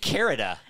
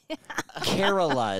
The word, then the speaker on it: Kerala: in Canada anyways brother you didn't even say it right you said carita I said Carol carrotland Kerala is called I said